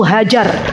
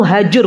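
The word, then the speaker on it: هاجر: kalau orang Indonesia itu hajar gitu ya ketika kami diaman tetangga kami itu ada namanya hajur jadi bacanya kalau orang Arab itu hajur bukan hajar Bu Hajar nanti dihajar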